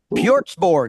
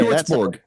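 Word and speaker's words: Hjortsberg: I never get a name right, never pronounce it right. Pjortsborg. Okay. Pjortsborg.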